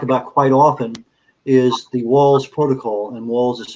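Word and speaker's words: Wahls: The thing that I talk about quite often is the Walls Protocol, and Walls is spelled W-A-H-L-S.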